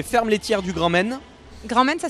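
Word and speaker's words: Grand Mayne: Grand Maine, ça s'écrit comment ?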